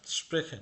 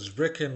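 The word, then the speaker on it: sprechen: আবার এখানে স্প্রেখেনের বলতে স্ব্রেখেন বলবেন না, মানে এটা তো উচ্চারণ করা যাচ্ছে না স্ব্রেখেন জেড দিয়ে। তো এটা স্প্রেখেন, এটার উচ্চারণ এসপি বা এস এর মতো হবে।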